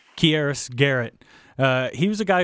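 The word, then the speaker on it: Keyarris: key RS is that he pronounced his first name here quieres garrett he was a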